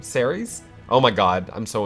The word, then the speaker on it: Ceres: it hecka T Persephone series Siri Siri Siri no ha ha the grain goddess zer yes how do you say her name Ceres oh my god I'm